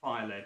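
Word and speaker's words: Fyled: Filed, that's how you pronounce it, is it?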